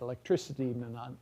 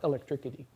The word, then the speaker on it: electricity: yeah um or that when you add idi to something ending in ick like electric that the k sound at the end of ik will be pronounced like an s you get electricity and not electricity so sometimes these are